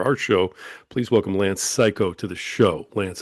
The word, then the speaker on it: Cayko: Yeah, it looked like uh Ko maybe to start with, but uh you know,